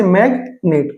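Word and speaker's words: magnet: जैसे मैग्नेट, तो ये मैग और नेट दोनों अलग अलग वर्ड हो गए, अलग अलग सिलेबल हो गए एक वर्ड के, इसलिए यहाँ पे जी साइलेंट नहीं है।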